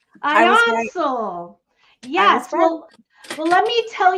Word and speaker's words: Ionsul: It's pronounced Ionsul. Ionsul.